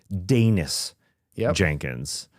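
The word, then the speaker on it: Daniss Jenkins: And it's Dennis Jenkins, kind of like he's from Denmark.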